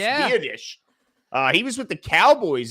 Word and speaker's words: Biadasz: I remember his name pronounced Biadasz.